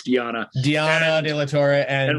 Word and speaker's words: Diana: It's hard because it really is spelled Diana conventionally, but it's Diana.